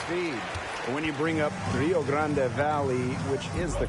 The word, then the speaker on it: Rio Grande Valley: When you bring up Rio Grande Valley, which is the correct pronunciation.